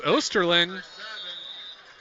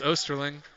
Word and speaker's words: Osterling: open over the middle it's osterlin I had to take a second to question myself but it's osterling I am saying the correct pronunciation I'm being reassured and